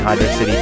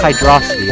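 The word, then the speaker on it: Hydrocity: that much more time on the land in Hydro City 2 than you do in Hydro City 1 and yes I am calling it Hydro city that is how it is actually pronounced it is not pronounced hydrosity like some people claim it is pronounced or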